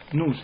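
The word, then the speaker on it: νοῦς: otra vez esta palabra el nus nus es la la pronunciación correcta de esta palabra griega no Y entonces esto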